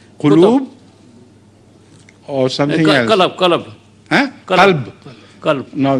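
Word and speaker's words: قلب: Qalb. Huh? Qalb. Qalb. Qalb. No, this is what I couldn't understand. The right pronunciation is qalb, Qalb, yes. not qalab, I see.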